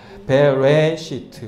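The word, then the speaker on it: בראשית: 그래서 이게 이제 레시가 알 발음이니까 레 이렇게 납니다. 레. 그리고 베레시트 이렇게 발음이 나는 것이에요.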